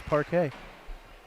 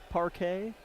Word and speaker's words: parquet: I think that's parquet. Spelled with a Q and a U, parquet.